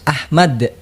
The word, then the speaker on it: Ahmad: Jadi dalam ejaannya itu saya bernama Alif Ha Mim Dal. Oke. Jadi bacaannya itu harus Ahmad. Ahmad.